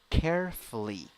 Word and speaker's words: carefully: Next, 9 letters, 7 sounds, 3 syllables. The first syllable is the stressed syllable. A vowel in the first syllable, e. Second vowel, Third vowel, e. Carefully, carefully, carefully.